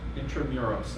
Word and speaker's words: Intramuros: place called intramurals euros intramuros i believe is the pronunciation and it's basically the